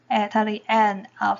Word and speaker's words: ㄜ: ㄜ and ㄦ ㄜ發音時不能改變你的嘴形 Pronounce ㄜ without changing your mouth shape 有一個直接了當的聲調並振動聲帶 have a clear and straightforward sound and vibrate the vocal cords ㄜ e ㄜ e